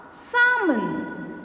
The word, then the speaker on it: salmon: a o and u whenever you see a letter l after the wall a o or u you're not going to pronounce the sound of the letter l for example in calf salmon chalk yolk what other